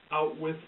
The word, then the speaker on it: Auschwitz: It is pronounced Outwith by the little boy in the story, and